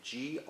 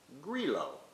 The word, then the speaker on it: Grillo: the grape it's actually g-r-i-l-l-o and we have the tendency to pronounce it as grillo but in its native sicily it's pronounced grilo and this wine has